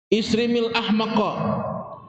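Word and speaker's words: إصرم: sungguhnya Rasulullah bersabda, qala isrimil ahmaqa bikasril hamzah. Isrim itu bacanya berarti hamzahnya kasroh, i bacanya ya. Isrim bikasril hamzah warra, ra-nya juga kasrah. Jadi isrim bacanya.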